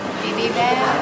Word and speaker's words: bibimbap: And that, how do you pronounce that? Bibimbap.